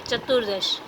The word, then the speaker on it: चतुर्दश: क्योंकि यहाँ पे र का उच्चारण होता है, इसीलिए मैंने यहाँ पे रेफ कर दिया है, चतुर्दश।